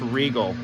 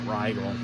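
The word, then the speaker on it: Rigol: it's by the way it's pronounced Regal not Riyal but so then again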